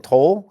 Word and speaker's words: Toal: Sergeant and with me today is Airman toll is that how you pronounce it yep and she is from AFV